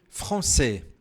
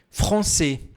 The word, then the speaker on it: français: Franc, français, français. Você pode falar um pouco mais aberto, por exemplo, français ou français. Isso depende da região da França.